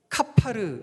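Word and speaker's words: כפר: 히브리어 발음으로 하면요 페르니다 역청을 칠하라 했죠 칠하다 히브리어 발음은 카파르 있니다 그래서요 14절 말 을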